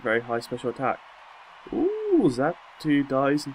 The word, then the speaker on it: Xatu: Xatu? I can imagine that's how you pronounce it. Not Xatu. The X is silent. Oh no, actually it sounds like a Z rather than an X.